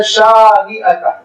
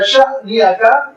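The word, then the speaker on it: شانئك: ان شانئک. شا آرام سے میں لمبا کھینچ رہا ہوں. دیکھیے خدا نہ خواستہ اگر اس پہ آپ نے حمزہ لگا دیا شانئک، کفر ہو جاتا ہے.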